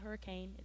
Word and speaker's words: Hurricane: And there's a place, it's called Hurricane, and but it's spelled hurricane, but we pronounce it Hurricane.